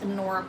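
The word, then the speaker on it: Honora: It has an H on it spelled H O N O R A. That's pronounced Anora Pearl.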